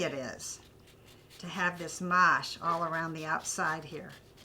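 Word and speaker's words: mâche: oh yeah needs more lime do you agree mhm yeah and this is your new spice rack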